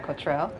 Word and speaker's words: Kotrell: hi cultural how are you hello am I pronouncing it right Cottrell cultural perfect okay so where did that name